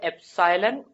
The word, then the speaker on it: epsilon: इसको बोला जाता है एप्सिलॉन, ये जो सिंबल होता है दिस इज एप्सिलॉन। क्या बोलते हैं इसको, कैसे प्रोनाउंस करते हैं, एप्सिलॉन, ठीक है।